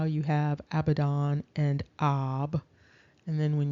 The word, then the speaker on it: Abaddon: And then down below, you can see that the Abaddon is also pronounced simply Avdon.